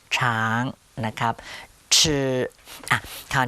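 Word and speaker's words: 吃: นิด นึง นะ ครับ ห่อ ลิ้น นะ ครับ ท่าน ห่อ ลิ้น หน่อย นึง ชือ ก็ คือ ช ช้าง นั่น เอง แทน ที่ จะ ออก เป็น ช ช้าง นะ ฮะ ท่าน ก็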